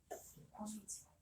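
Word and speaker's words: こんにちは: 곤니치와.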